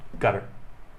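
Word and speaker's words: Qatar: me the job as attache in gutter and what's good uh guitar guitar okay um sorry there's a navy term right no gutters uh is the the way the arabs pronounce it i believe okay guitar okay so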